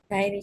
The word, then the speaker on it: dairy: Dairy chat.